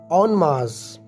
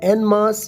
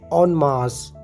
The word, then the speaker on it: en masse: imtihaai dilchasploves ऑन मार्स ऑन मास जी हान इसे आपने ऑन मार्स प्रोनाउंस करना है यह एन मास या एन मैन से नहीं है बल्कि दोस्त प्रनंसीएशन है ऑन मास मेरे एक दोस्त ने